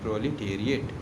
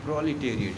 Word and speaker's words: proletariat: सबसे पहले मैं स्पेलिंग बता दूँ इसका, PROLETARIAT, प्रोलिटेरिएट, ठीक है, PROLETARIAT, प्रोलिटेरिएट।